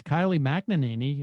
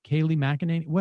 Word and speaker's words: Kayleigh McEnany: So here is Kylie McEnany, or whatever her name is. Kayleigh McEnany. How do we say her name? I think you got it that second time.